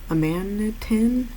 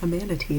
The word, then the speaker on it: amanitin: So amanitin binds, like amanatee is what I want to say, but no. Amanitin binds to RNA polymerase's active site.